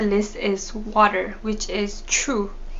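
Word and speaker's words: ཆུ: is water which is true so true can also mean river and true the same pronunciation can also mean pee but in this context we're going to talk about drinking water so true is the drinking water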